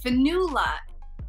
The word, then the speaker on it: Fionnghuala: how to pronounce it my real name is finula it's an irish name and it's spelled f-i-o-n-n-g-h-u-a-l-a do what was the